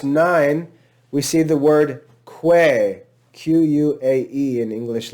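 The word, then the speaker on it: quae: we see the word quay q-u-a-e in english letters and we see the ecclesiastical pronunciation of that diphthong is pronounced just like e that's an example of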